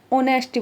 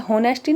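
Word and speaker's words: honesty: देखो होनेस्टी, ऑनेस्टी क्या है, ऑनेस्टी बोलेंगे ऐसे, होनेस्टी नहीं, ऑनेस्टी, ओ से स्टार्ट होगा ऐसे, ओ से, ऑनेस्टी, हाँ ओ से, एच साइलेंट होगा, ओ से स्टार्ट करेंगे, ऑनेस्टी। लेकिन ऑनेस्टी क्या है, ऑनेस्टी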